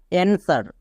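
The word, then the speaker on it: answer: ডব্লিউ থাকলে W silent এখানে W silent যেমন দেখো এ এন এস ই আর অ্যানসার এখানে ডব্লিউ এর উচ্চারণ হচ্ছে না এবার নিচেরটা দেখো ডব্লিউ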